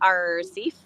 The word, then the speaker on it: RCEAF: We pronounce it RCEAF, like a pirate.